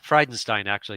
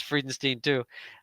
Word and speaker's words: Friedenstein: Um I met Jerry back in Friedenstein, actually is how you say it. I always thought it was Friedenstein, too.